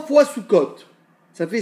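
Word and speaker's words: סוכות: Comment on le prononce? Soukot.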